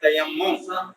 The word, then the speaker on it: تیمم: کیا ہے یہ اس کا پروننسیشن تلفظ کیا ہے؟ تیمم.